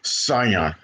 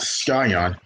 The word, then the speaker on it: Scion: to Young customers the Scion Brands remember it's pronounced Scion not skion Scion to see is Cent so cion is